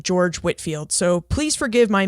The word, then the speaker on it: George Whitefield: But as Jessica pointed out to me, he pronounced his name George Whitfield. So please forgive my mispronunciation. I did try to correct that, but his name is pronounced George Whitfield, but spelled Whitefield.